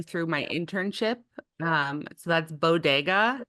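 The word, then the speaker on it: Beau Degas: So that's Bodega. It's spelled Beao or Beau and then space and Degas, like the Ah, artist, which is yes.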